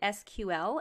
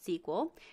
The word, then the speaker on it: SQL: sequel stands for structured query language some people pronounce it SQL and some pronounce it sequel there's actually an entire history about the pronunciation